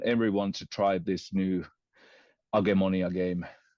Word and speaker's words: Agemonia: We pronounce it Agemonia, but I guess it's a fantasy role-playing like a board game.